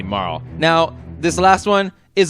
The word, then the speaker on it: Marle: so MA ah loo that is the closest Japanese equivalent to morale if they had wanted to make it Marlee they would have spelled her name ma with a dash and Li with another - ma lead me Marty so her name is definitely Mauro now this last one